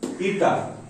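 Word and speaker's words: η: ठीक है, इसको कैसे प्रोनाउंसिएशन होता है इसका, ईटा।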